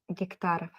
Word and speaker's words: гектаров: How do you pronounce that? Гектаров.